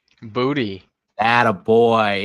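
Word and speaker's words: Boutte: Do you know how to pronounce his last name? Booty.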